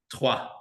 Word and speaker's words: Troyes: Yes, Troyes, as we call them. Yes. Troyes. Trois. How do you say it? Trois.